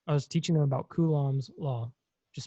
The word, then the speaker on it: Coulomb: And in English, it's pronounced Coulomb, right?